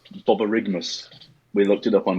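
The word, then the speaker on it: borborygmus: we have I particularly in like firstly it's Bubba rig MMus we looked it up on YouTube that's how you pronounce it and it is our technical term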